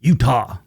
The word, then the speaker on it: Eutaw: And it's not spelled Utah like the state, it's spelled E-U-T-A-W, Utah.